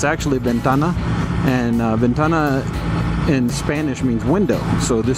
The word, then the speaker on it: Ventana: up in the Foothills um we call it Venna Canyon and that's just where how we pronounce it but uh it's actually Ventana and Ventana in Spanish means window so this